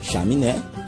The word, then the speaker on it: chaminé: Alguns exemplos de palavras oxítonas são as palavras sabiá, essa palavra nós vimos no nosso poema, a palavra chaminé e a palavra cristal. Perceba que quando nós pronunciamos essas palavras, nós damos mais ênfase, nós colocamos mais intensidade de uma sílaba de cada uma delas.